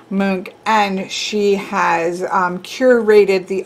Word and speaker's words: Munch: not be correct but from what my understanding is that it sounds like edward mook i do not speak